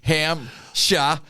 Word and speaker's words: Hampshire: at all it's just ham sha he is gone p is silent just like God silent